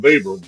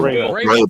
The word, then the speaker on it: Vrabel: I'm with Jeff on Babel. Babel. What's his name? Babel. Oh, How you say his name? Vabel. Vrabel. Yeah.